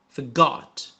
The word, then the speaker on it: forgot: Forgot. Get back out. Found. Killed. Again. مرة أخرى. The next morning. Went. Donkeys carrying huge chests inside, saying password, but forgot. Here R is silent.